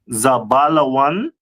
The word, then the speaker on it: Zebulun: Uh the next one is uh Zebulun, the tribe of Zebulun. Uh which is from Guatemala to Panama. Mhm. In Hebrew it pronounced as Zabalawan.